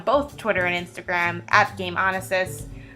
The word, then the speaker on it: Gameonysus: Twitter and Instagram app game on assist so that handle is game honest is spelled G AME ony ex-us game on SS so once again my